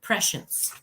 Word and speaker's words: prescience: It's got a SH in the middle, prescience, and like a short E. It's not spelled prescience. So I actually spelled it wrong on my page, by the way. No, it is spelled prescience, but the SC is pronounced like an SH. Oh, and it's a short E, prescience. Okay.